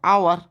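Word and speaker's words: hour: তো দেখো, বিচার করো এটা হাওয়ার না আওয়ার উচ্চারণটা। এইচ ও ইউআর, এইচে হয়ের সাউন্ড হয়, কিন্তু এই সাউন্ডটা এখানে সাইলেন্ট আছে, ইজন্ট ইট, তাই না? নীরব আছে। এটা ফার্স্ট সাউন্ড কী আসছে? আ আসছে, হাওয়ার নয় আওয়ার।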